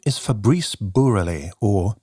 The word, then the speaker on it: Bourrelly: His name is Fabrice Bourrelly, or Bourrelly, is closer to his own pronunciation.